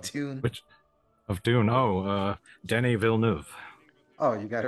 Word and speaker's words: Denis Villeneuve: Oh, Denis Villeneuve. Oh, you got it right this time. Denis Villeneuve.